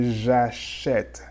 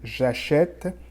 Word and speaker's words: achète: So for je, you're going to say j'achète.